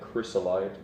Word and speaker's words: chrysolite: His body was like chrysolite, that's how you say it.